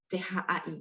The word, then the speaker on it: cai: Cai laoshi de cai pakai CAI ya. Jadi kalau baca marga saya atau mungkin teman-teman yang satu marga sama saya, CAI bacanya CHAI ya, cai ya.